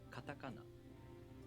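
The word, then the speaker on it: カタカナ: For example, katakana. The second and third syllables are pronounced higher in pitch, and the first and Katakana. the last syllables are lower in pitch.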